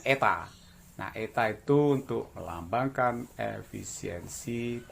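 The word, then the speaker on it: η: ini ya jadi efisiensi lambang nyaeta ini bacanya eta na at untuk melambangkan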